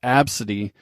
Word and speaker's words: ABCD: the kid's name was ABCD pronounced AB City unfortunately in the u.s.